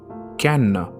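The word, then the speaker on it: Cannes: Fraser got at the can film festival and I googled on how to pronounce that festival's name and it is indeed can going back to the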